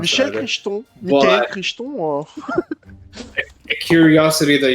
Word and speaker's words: Crichton: Since you did mention Michael Crichton, I don't fucking know how to pronounce Michel that. Crichton.